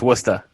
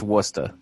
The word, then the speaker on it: Worcester: my wart so technically it's worse Esther okay right but now